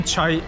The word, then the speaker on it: chai: Bu çay abi, bildiğin çay diye okunuyor. Nasıl yazılıyor? C-H-A-I. Çay diyorlar burada.